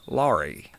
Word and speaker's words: Laura: Back in old rural North Carolina, in those parts of Appalachia, to pronounce a word that had an A sound on the end of the word, you used a long E sound.